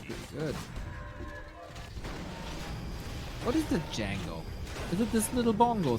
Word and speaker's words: Django: What is the Django? Is it this little bongo thingy? I guess so. Chat, can you do us a favor and give us a definition of a Django? The D is silent.